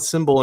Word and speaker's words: SIMBULL: So it sounds like Symbol, but it's spelled a little differently.